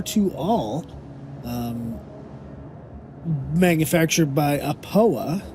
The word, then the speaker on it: Aopoa: all um manufactured by apoa i believe that's how you say it a poa it is an